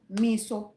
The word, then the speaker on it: Meso: It is Kwatamisha Samson Miso.